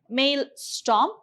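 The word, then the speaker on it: maelstrom: we have male storm you pronounce it as male storm so this is a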